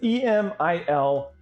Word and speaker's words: Emil: I think it might even be pronounced Emil, but it's E-M-I-L, gang fly. So, and the announcers and the commentators, they pronounce his name Emil. So we're gonna go ahead and stick with the same way.